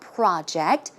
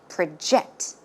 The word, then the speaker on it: project: okay in this case the stress goes in the second syllable as you can see it's not project when it's a verb it should be project project one more time